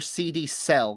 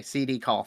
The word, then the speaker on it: CD Call: Is it pronounced CD call or CD cell? Because CD call. Okay, I'm I think the dyslexia hit. Okay, CD call.